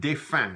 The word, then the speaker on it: défunt: Défunt, we pronounce it défunt, not défunt, défunt. Very often the becomes an un sound in Louisiana French.